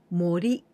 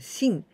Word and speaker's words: 森: Cándido hoy es esto morí morí o también podemos pronunciar sin esto significa el bosque ves que es muy